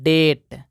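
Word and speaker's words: debt: का मतलब होता है संदेह इसको पढ़ते हैं डेट क्या पढ़ते दोस्तों डेट अब देखते हैं दोस्तों कि साइलेंट सी यानी कि सी साइलेंट कब होता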